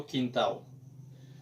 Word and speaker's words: quintal: A rappeler que L en portugais yo prononce comme W.